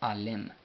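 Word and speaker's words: ዓለም: La M no lleva, no va acompañada con sonido de vocal. Entonces Alem.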